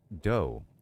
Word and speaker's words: do: You said "do" as in D-U-E, when in reality it's doe, a deer, a female deer. And it's telling you how to say it. You know, like doe, like D-O-E.